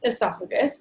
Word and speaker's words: oesophagus: Okay, so pronounced esophagus, but oesophagus helps with that memory of how to spell it.